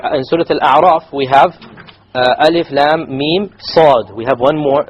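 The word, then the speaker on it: الم: No, you must do a ghunna. Alif lam mim. So the lam 6 harakas, the mim 6 harakas, and in between the 2 ghunna of 2 harakas.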